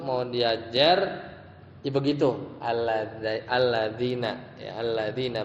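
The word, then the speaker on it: الذين: Alladzina, ya alladzina bacanya, ya.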